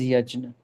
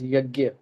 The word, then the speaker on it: yajna: I pronounce it as yajna. If you are not very comfortable with this term, you can use the colloquial term which is yagya. Uh the more refined is yajna.